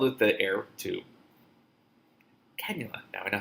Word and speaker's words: cannula: Cannula. Now I know how to pronounce it.